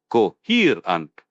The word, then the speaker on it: coherent: Coherent, pronounced coherent. The stress is again on the second syllable.